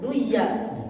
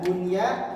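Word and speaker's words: دنيا: Dunya harusnya duya, tapi dikarenakan pengecualian maka diidharkan. Begitupun dunia, dunya, kinwa, sinwa. Nah, itu adalah huruf-huruf yang kosakata yang dibaca tidak seperti hukumnya. Dunya bukan duya jadinya.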